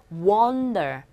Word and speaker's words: wonder: 그렇다고 해서, 이렇게 V자 거꾸로 된 기호로 그런 식의 발음도 하지 마시고, 아와 중간으로서 wonder.